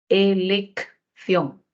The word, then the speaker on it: elección: Elección, tenemos dos Cs. La primera C tiene valor sonoro de K y la segunda C tiene valor fricativo, por lo que le ponemos la Z. Elección.